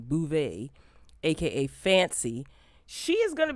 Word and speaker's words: Beauvais: new york city uh garcelle bouvet okay that's how you pronounce her last name bouvet aka fancy she is